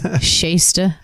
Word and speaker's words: Shasta: that well you know shasta rebuilt you could you could cook fish and broccoli in it um it's pronounced shaysta stuff i used to